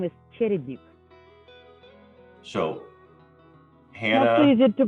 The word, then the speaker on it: Cherednyk: for us yeah so my last name is cherryduke so hannah that's easy to pronounce i know mike but yeah it is